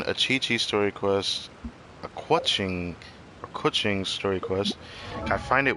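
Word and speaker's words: Keqing: Kuching, which is how you're supposed to pronounce it properly, which is very interesting. I never knew that that was how it was said.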